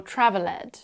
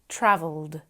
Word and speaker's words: traveled: I hear is when students try to pronounce the e at the end of the word and end up saying ask Ed or traveled they should be asked traveled we only add on